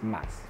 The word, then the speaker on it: mas: more more is mass mass m-a-s more is mass and we have much which is mucho mucho